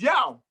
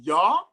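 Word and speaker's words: Yaw: right in iowa i told him my name is yao and then he said oh what a cool name how do you spell that i said y a w y a w and then he said oh you mean yeah i mean yeah like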